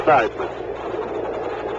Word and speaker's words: Theismann: explained to him that Theismann rhymed with Heisman. So he pronounced it Joe Theismann.